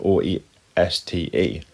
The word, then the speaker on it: oeste: And the last one at the bottom there, beginning with O-E-S-T-E, it looks really strange. It looks like no other word in English, but when you actually pronounce it, oeste, it sounds very similar to west.